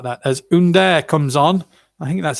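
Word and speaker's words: Ünder: things like that as under comes on i think that's how you pronounce it it's spelt under but it's under and he replaces uh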